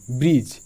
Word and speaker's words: bridge: BRIDGE ব্রিজ, এখানে ডি কেন silent?